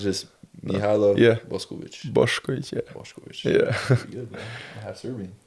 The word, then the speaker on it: Mihailo Boskovic: It's Mihailo Boskovic. That's how we say it in Serbian. you know? Tough name. Yeah. Tough name. How what's the weirdest pronunciation you've got from someone? Like a lot of people have been calling me like just Hilo when you say the name. They don't even hear like M.